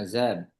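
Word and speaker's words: عزب: nanti baca yang apa Yang azzab ya ustaz a pakai zat ya apa zai ya pakai zai ana azab ana ana azab yang bawahnya itu apa?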